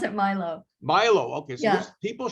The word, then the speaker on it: Milo: we pronounce it Milo.